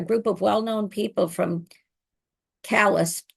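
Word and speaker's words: Calais: Um, in the fall of 1941, a group of well-known people from Callus, you'd say Klay in French, but I believe Callus Maine is how it's pronounced, including historian Ned Lamb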